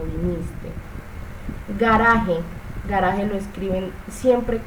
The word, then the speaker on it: viniste: Veniste, ya de esta la hablé, veniste no se dice veniste, sino viniste.